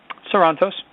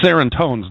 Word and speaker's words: Sorantos: It is Sorrentos. Yeah. Do you add a little more flavor, though, on the end? Sorrentos. No, not really. I mean, I've heard it pronounced a couple different ways where people add flavor to it, but I'm okay with either way. Because serrontos don't work, though.